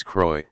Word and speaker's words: Croix: Chapter of the Rose Croix, X is silent, soul.